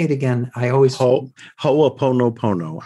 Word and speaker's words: Ho'oponopono: I always Ho'oponopono. I just pronounce Ho'oponopono. That's it. I pronounce every syllable.